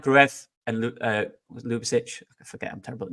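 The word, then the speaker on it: Ljubičić: So one pronunciation I saw this morning was Ljubicic, but it's also, someone else has now just told me that it's pronounced like Lou, as in Lucy Lou. So Ljubicic. Okay. So, Ljubicic.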